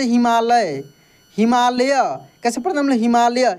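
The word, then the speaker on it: Himalaya: हिमालय कैसे पढ़ते हम हिमालय य य पूरा यहां पर प्रोनाउंस हो रहा है इसलिए यहां पे वाई के बाद वाई के बाद ए लगाते हैं हम लोग लास्ट में अब आप बोलेंगे कि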